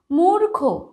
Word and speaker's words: মূর্খ: মূর্খ, মূর্খ, মূর্খতা।